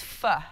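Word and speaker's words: phở: Is it pronounced pho or? It's pho. Pho. Pho, but I just say pho. You can't say pho. It's hard to Nobody say Nobody will pho. Know what you're talking it about.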